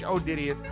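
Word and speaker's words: Odideus: I mean, if you got time, search Odidius.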